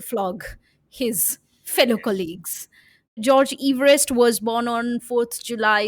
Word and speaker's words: Everest: Well, apparently, we've all since childhood and schools and every reference, we've always referred to him as Everest, as in rhyming with cleverest. But it is Everest because that's how his family name goes.